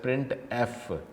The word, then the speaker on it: printf: इट is mostly commonly use to display output, it is pronounce as प्रिंट एफ।